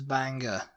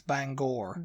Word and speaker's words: Bangor: think it's interesting uh the next one is Banger Banger in Maine yeah to say Banger app apparently it's Bangor Bangor yeah Bangor and it's